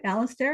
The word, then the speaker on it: Alastair: Am I pronouncing that right, Alastair?